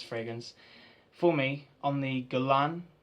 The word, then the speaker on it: Guerlain: for me on the galan counter or Galen a lot of people pronounce it differently it is known as Galen so a lot of